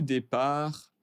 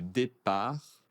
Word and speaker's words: départ: Le départ. Attention, je ne prononce pas le t. Le départ.